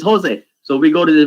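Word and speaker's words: José: pronounced just right it's pronounced ha right like Jose it's spelled yeah oh yeah oh yeah right so it's not your day it's Jose so we go to the restaurant my brother's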